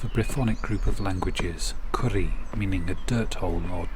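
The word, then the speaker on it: Currie: of edinburgh in a village called curry roughly the same pronunciation as for food dishes but a different and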